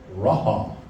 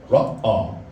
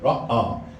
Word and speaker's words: Ra'ah: Jehovah Raha. Ra'ah. Sorry, I said it wrong. Ra'ah.